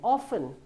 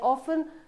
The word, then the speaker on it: often: So sometimes or I'm not too sure in which English but the t is silent. Often I often go for my dance classes.